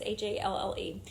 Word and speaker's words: Halle: Also, Disney has cast Halle Bailey, I think that's how you say her name. I think it's Halle. It's Halle, as Ariel in the live-action version of The Little Mermaid.